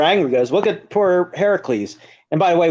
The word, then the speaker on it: Heracles: goes look at poor Heracles and by the way we're using the Greek pronunciation her it's Heracles not Hercules is the